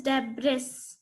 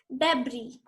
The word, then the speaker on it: debris: It is not pronounced as debris. The S is silent over here. So it is pronounced as debris.